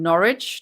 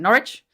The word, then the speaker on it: Norwich: old when she was last seen she's from Norwich did I say it right guys you guys taught me last time Norwich Connecticut she was a single mother she was